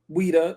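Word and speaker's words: Ouidah: Now they call it Ouida. Now you know, you look it up in Wikipedia, they spell it O U I D A H.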